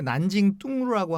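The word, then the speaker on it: 南京东路: 그 중국어 발음으로는 이제 난징 뚱루라고 하는데 어떻게 보면 보행가입니다.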